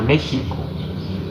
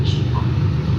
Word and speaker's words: México: Pues más o menos pasa esto mismo con la palabra México, que aunque lo escribamos con X, lo pronunciamos con J, y también lo hemos acortado un poco, lo hemos castellanizado.